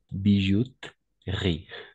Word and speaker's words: bijouterie: la crème riz d'accord bijouterie toujours avec I d'accord et le E est muet d'accord on va prononcer crêpes riz bouche riz crème riz bijoute riz d'accord excellent très bien